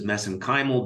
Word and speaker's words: mesenchymal: which I pronounce as mesenchymal because that's how they pronounce it in Ireland I know there's other